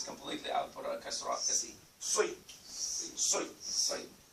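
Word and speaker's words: صِ: It's not Si, Si. It's like you're saying the Sin. Sui, Sui. Okay. So the bottom of your jaw, the bottom of your, where Sui, Sui. You grab it from down there.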